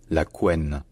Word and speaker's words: couenne: prononciation qui fait qu'aujourd'hui de plus en plus de gens disent la CEN voilà la CEN et d'ailleurs on considère que c'est la prononciation standard au Canada en Belgique et en Suisse donc voilà on peut dire qu'aujourd'hui euh la CEN c'est une pronation qui est très courante néanmoins dire la quwan ça reste celle qui